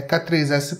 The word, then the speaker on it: k3s: uma forma longa da pronúncia oficial do k3s é k3s pronto o k8s é a